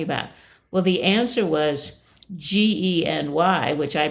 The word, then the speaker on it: Gen Y: are they talking about well the answer was GE N Y which I pronounced Genie no but of course it's Gen Y it's